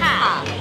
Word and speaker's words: 龘: 我后来有去查，它叫港榻，这个是念榻。对，我们来到在林口的港榻，它吃到